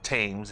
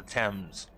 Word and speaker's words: Thames: Westminster, the Thames, and that's how it's pronounced, not the Thames, it's the Thames.